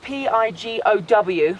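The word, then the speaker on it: Pigow: All right, so this is Pigo. Spelt P-I-G-O-W, but pronounced Pigo, P-I-G-G-O.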